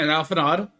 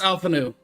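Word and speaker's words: Alphinaud: say Alpha's name wrong I keep on saying it alanod but it's Alpha new Alpha knew what Alpha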